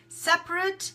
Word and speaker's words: separate: Separate, although we pronounce it with the schwa sound again, there's a sound we have in English, separate, it is actually spelled with an A.